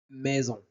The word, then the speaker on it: maison: Le son et le graphème AI maison. maison mais et le son et la syllab maison.